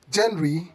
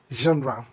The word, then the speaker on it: genre: Kindly don't say genre, genre, but say genre. This is another French origin word where the G sounds as J, like measure, treasure.